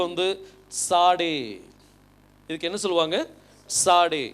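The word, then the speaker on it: צדי: இதுக்கு இதனுடைய உச்சரிப்பு வந்து சாடே இதுக்கு என்ன சொல்லுவாங்க சாடே இந்த டி எஸ் வந்து இட்ஸ் அப்படிங்கிற சவுண்ட் வரணும் சாடே அப்படின்னு சொல்லி வரணும்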